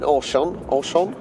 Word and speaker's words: Auchan: Look, we were just in Auchan, that's how you pronounce it.